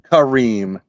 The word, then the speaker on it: Kareem: Jacksonville now oh and I also had the the Edge guy's name wrong it was khed Karim not kareim green khed Kareem he's still